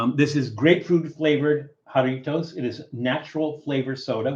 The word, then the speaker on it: Jarritos: Except in Spanish, that J is pronounced like a H, so it's Jarritos. And you roll the R. Jarritos. Jarritos.